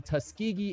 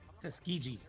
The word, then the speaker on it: Tuskegee: The skill and bravery of the Tuskegee Airmen. Did I say it correctly? Tuskegee.